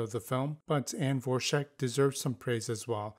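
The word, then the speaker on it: Dvorak: In P1, I have Anne Vorschach, that's how she pronounces it, as Francesca Sheshka Camonte.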